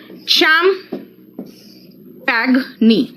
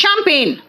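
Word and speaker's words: champagne: आओ देखो क्या है शम पैग नी चम पैग नी इट्स चैंपेन क्या कहा मैंने स्पेलिंग याद करना है तो प्रोनंसिएशन बिगाड़ दो लेकिन भाई यार इंग्लिश पढ़ रहे हो तो इंग्लिश का प्रोनंसिएशन होना चाहिए ना इसलिए क्या बोला मैंने मैंने कहा चम पगनी बट इट इज चैंपेन क्या चैंपेन लेकिन कैसे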